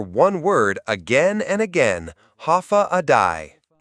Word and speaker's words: Hafa Adai: Step foot on Guam and you'll hear one word again and again, Hafa Adai. Pronounced Hafa day, it means hello in Chamorro, but it's more than that.